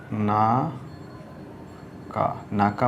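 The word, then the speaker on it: 中: একটা দাগ দিয়ে দিতে হবে এটা হচ্ছে নাকা না কাকা মানে হচ্ছে কি নাকা মানে হচ্ছে ইনসাইড অর্থাৎ ভিতরে এটার উচ্চারণটা হবে নাকা এরপরে থার্টি নাইন নাম্বারে যেই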